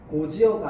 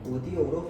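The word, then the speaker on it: 곧이어: 고지어가 아니라 어떻게 발음해야 된다? 고디어로 발음해야 된다.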